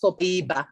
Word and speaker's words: copaiba: actually pronounced copaiba in Brazil.